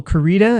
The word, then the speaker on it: Koryta: It's by Michael Kurita. It's spelled KorYta.